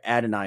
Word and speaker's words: Adonai: number nine I have Adon Mitchell or sorry Adonai Mitchell is how you say it um of Texas uh